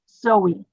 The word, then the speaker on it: Zoe: that everybody is clear my last name is Zoe three letters pronounce them all okay um and yeah